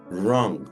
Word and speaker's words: wrong: así es wrong y no se pronuncia la doble u tal cual pero al hacer la figura de la ru en la boca dibujamos una forma de u y la ru la pronunciamos así como si estuviéramos o sea porque no decimos wrong no decimos wrong decimos wrong wrong se dibuja la u y suena con el sonido de la r verdad r wrong ahora y